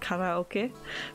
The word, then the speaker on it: karaoke: And did you know karaoke means, it's actually pronounced karaoke, but it means empty orchestra, which I think is a pretty name.